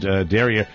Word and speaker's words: derriere: Derriere, pronounced derriere.